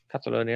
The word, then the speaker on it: Catalonia: Catalonia, that's how you pronounce it.